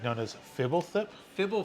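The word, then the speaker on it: Fblthp: in it it's been really like known as fibble thip fibble fibble FIP yeah fibble yeah and it's been so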